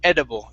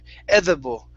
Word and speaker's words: edible: Think of an R. Edible. Don't read it as a D. It's an R Okay. sound. Is something R? The letter It R? sounds like an R. Edible. Edible. That's perfect. Okay. Okay, all you have to do is change it in your mind. Okay, Mhm. you don't want to think it, you don't want to read it as a D. If you do, then you say edible.